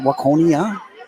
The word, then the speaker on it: Waconia: to be another bonus Point win here for Waconia do I say it right Waconia yeah I've lived here for a couple of